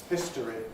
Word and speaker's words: history: History. That's what I have. History, you will also hear.